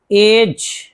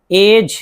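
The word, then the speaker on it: edge: जैसे मिसाल देखिए एज एज देखिए यहां डी जी साथ में है तो डी को नहीं पढ़ेंगे।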